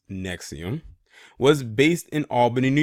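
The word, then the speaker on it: NXIVM: started under another name in 1998 in his pronounced nexium was based in Albany New York in at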